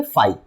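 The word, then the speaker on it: φ: ए सेट क्या है, फाई, हाँ, ओके, इसका प्रोनाउंसिएशन हम लोग ऐसे करेंगे फाई।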